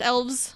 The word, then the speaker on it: elves: It's pronounced elves. Oh, They yelled at somebody for saying elf in the movie. well, it's because plural.